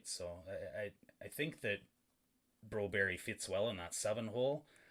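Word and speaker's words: Broberg: You keep saying Broberry.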